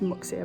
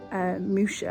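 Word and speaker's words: Muxía: we're going up to i'd say it's moxia but it's probably not pronounced like that m-u-x-ia moosha i think it's probably pronounced but anyway that's where we're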